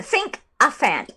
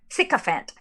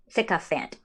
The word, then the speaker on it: sycophant: become president um uh think a fan okay thank you neil for teaching me how to pronounce things um think of it no sycophant a sick offend okay got it sikka fanned okay thank you um